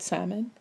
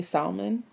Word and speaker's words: salmon: So I responded to Gerald, and I was saying that it drives me crazy when some people pronounce the L in the word salmon, and they say salmon.